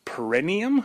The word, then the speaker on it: perineum: It's perineum. Perineum? It sounds like perennial, I know.